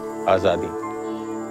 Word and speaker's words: Azadi: Azadi, right? Azadi. That's how you say it.